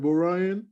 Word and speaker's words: B0RYAN: we're going to talk more to our guest boy ryan i might say i almost did i don't mess your name up i'm saying it right bro ryan yes sir that's right we don't talk more